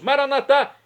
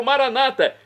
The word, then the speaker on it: Maranatá: E agora eu clamo do aramaico dialeto de Jesus, Maranatá, como dizemos nós católicos, ou Maranata, como dizem nossos irmãos separados das comunidades evangélicas ou protestantes. Não importa a pronúncia, o significado é o mesmo.